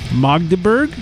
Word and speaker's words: Magdeburg: So thanks, Magdeburg.